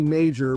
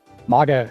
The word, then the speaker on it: Maga: we've been calling you Major, but I had a message with you a few months ago, and you corrected me on the pronunciation. Is it Maga? Maga, exactly, yeah.